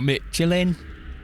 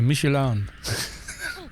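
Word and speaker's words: Michelin: when in the UK you're Mitchell in which is not how you pronounce the French Tire maker michelan funny saying it we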